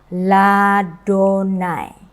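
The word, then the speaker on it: לַיהוָה: Di sini Yudhe Vavhe itu dibaca dengan Adonai, tetapi ada awalan La. Maka saya membacanya dengan Ladonai.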